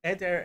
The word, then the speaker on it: eder: gave them um so the word eder means a herd a flock and so ed er eder right um so separated ones this is how you say it in hebrew right his slaves his servants